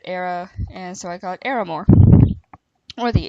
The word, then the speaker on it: Aramore: I pronounce it Aramore. I don't know how you might pronounce it. I say Ara because it's like Sarah, but without the H. So I say Aramore.